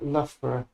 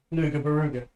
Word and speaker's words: Loughborough: like Loughborough. Luga Baruga. That's how the Americans call it, Luga Baruga.